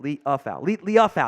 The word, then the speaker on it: Liufau: Liufau, I think is how it's pronounced. Liufau, that's how it is.